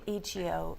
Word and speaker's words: Ichiyo: And I have been going to Ichiyo Ikebana. - (Chris) Ich-i-yo? - Ichiyo, in Japanese I's are pronounced like E's.